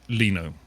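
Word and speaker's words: Lino: um I mean it's it's supposed to be uh Leno but if you say you know as the words that are build on it's Lio so there's not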